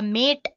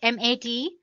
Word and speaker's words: MATE: can see the machine boots you into the mate desktop environment let me pronounce it M80 you can call it whatever you want mate